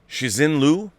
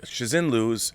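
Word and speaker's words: Liu Cixin: i butcher his name shizin lu shizinlu i think shazin lose is um is how you pronounce his name he wrote the novel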